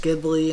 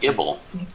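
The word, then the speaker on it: Gible: Can you catch Ghibli until... Ghibli? What? How do you say it? Just correct. Gibble.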